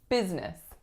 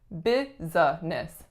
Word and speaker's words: business: like it should be business business but we totally get rid of that middle syllable and just say business